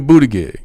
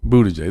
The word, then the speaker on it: Buttigieg: I ain't gonna say what his nickname is that I gave him, but you look at Buttigieg. If I say his name right. Buttigieg.